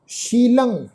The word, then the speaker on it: शीलं: तो इत्थे पाठ है जी सर्वशील ममंग, मम्मा मम्मे दे उपर साध संगत फिर टिप्पी की मात्रा ममंग शीलंग, लले उत्ते टिप्पी की मात्रा नासिक उच्चारण शीलंग।